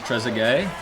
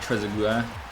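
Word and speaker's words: Trezeguet: Oh, it's pronounced tresge. I was trying to say like tresu.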